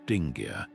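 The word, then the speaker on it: dingir: A sign like letter 12 450 which originally meant god in Sumerian pronounced dingar could still be used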